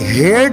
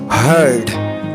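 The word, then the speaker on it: heard: आप इसे हेयर्ड मत पढ़िएगा, आपने इसको पढ़ना, ए को साइलेंट कर दें और पढ़ें हर्ड, हर्ड।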